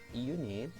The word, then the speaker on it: unit: Sementara di sini unit itu dibacanya U, ya, diawali sama huruf Y. Pengucapannya itu Y, bukan E, bukan U, unit, tapi a unit, seperti itu.